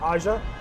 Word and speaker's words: Aja: Like, I remember the first time was Aja Frost. It's spelled A-J-Y-A, but Aja, pronounced it Aja, from HubSpot.